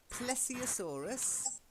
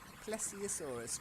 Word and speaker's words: Plesiosaurus: Plesiosaurus. Plesiosaurus.